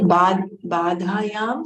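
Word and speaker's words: bādhyam: badhayam samanadhikar. The hyphen on the top, you have to drag.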